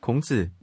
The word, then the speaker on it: 孔子: In Korean, it is pronounced, 공자, in Japanese, 講師 and in Mandarin. 孔子 But note that if we're talking about the philosophy of Confucianism, Confucius' name does not appear.